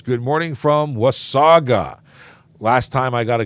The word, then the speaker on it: Wasaga: from Osaka I said is it was Sega or was Saga and it's Wasaga and I will I will make sure I always say it correctly now thank you very much John was Saga not with Sega but so many people say Wasaga Beach this was Saga I